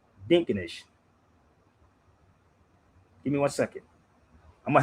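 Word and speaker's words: Dinkinesh: So, it's pronounced Dinkenesh.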